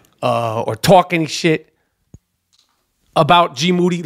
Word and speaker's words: GMoody: I would never disrespect or make up some shit or talk any shit about GMoody. Last name rhymes with duty.